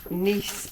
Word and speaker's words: Nice: lovely and finally nice nce biscus spelled nice pronounced nce now n biscus always